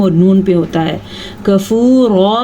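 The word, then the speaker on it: كَفُورًا: کفورا میں را پر پڑی جائے گی.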